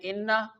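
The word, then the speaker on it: إنّ: Inna, people read it quickly like inna, skip the 2 counts which goes into the nose and produce a nasal sound.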